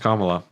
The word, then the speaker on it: Kamala: dumb and not fun it's pronounced comma you said shark racing at first it is pronounced Kamala uh I can't even say